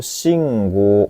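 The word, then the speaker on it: 信号: Nibang desu ne, yaitu shingo, panjang go-nya minasang.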